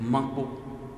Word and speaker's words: Mankpo: Son nom authentique, c'est Mankpo. Dans Mankpo, nous avons deux syllabes. Man, qui veut dire rage, fureur, Po, bâton. Aussi dans cette belle histoire,